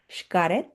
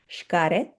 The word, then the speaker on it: Xcaret: But I can tell you that in Nahuatl and Mayan languages, the X will sound like a sh in names, and possibly other indigenous traditions as well. So this one would be Shiye, Shuan, Xcaret.